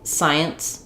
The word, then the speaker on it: science: If I just say science, science, science, and I just say those sounds, it may end up sounding more like I'm saying the word science, science, that has one syllable, but science has two. And why is that happening? It's because there's a hidden sound in science.